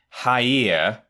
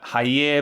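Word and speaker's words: Jair: and here we go it's spelt j-a-i-r as his first name but it being brazil it's probably more of a her sound isn't it so i'm gonna say hi ear uh hyer bolsonaro yes a real a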